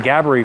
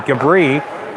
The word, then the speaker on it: Gabri: Just finding out today, the official, is that is Gabri. More of an emphasis on the first syllable than the second. I've been saying Gabri for a while.